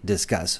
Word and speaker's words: Disqus: how the system works, and they say Disqus, so I learned how to pronounce it the way they want us to.